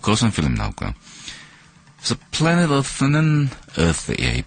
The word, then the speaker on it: Planet Earth: 그래서 Planet Earth는 번데기 발음이기 때문에 쓰 발음을 해줘야 됩니다.